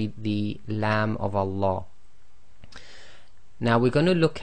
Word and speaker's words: Allah: the English word lamb if the sound before the name of Allah is either a fat or a then the Lamb of Allah is going to be pronounced in a heavy fashion I or full mouth so the lamb sound will now change to La as in the English word large so it's a very